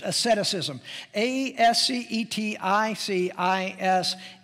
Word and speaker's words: asceticism: amorous ettus ism excuse me that's how it's pronounced asceticism AES CET I see is in now this